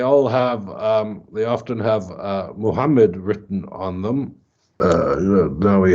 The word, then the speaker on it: Muhammad: Is it pronounced that way or Mahmad? Because the last day you mentioned that the early reference would be in the Mahmad. earlier period, it's certainly Mahmad.